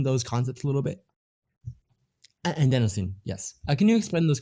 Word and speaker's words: adenosine: is how you say it and then your anidocin i think so can you explain those concepts a little bit adenosine yes can you explain this concept yeah no